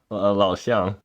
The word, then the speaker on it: Lao Xiang: Then this deck is also running Lao. I'm not pronouncing it right. Lao again. Chang? Lao Xiang. Chang. Lao Xiang's command. There you go. Yeah, there you go. That's how you pronounce it.